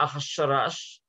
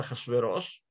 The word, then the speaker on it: Ахашверош: Царь, который один раз его имя так и написано, вот в аккадском он Ахшиаршу, и это именно согласное, один раз в Мегилат Эстер написано Ахашараш, хотя читается Ахашверош.